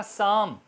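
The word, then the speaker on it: psalm: एस की आवाज आ रही है साइकोलॉजी पी साइलेंट होता है जब वो एस से पहले आता है इसी तरह साम एस ए एल एम साम साम और पी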